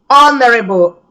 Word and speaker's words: honorable: The soldier received an honorable discharge from the army because honorable, H is silent, so it is honorable, not honorable.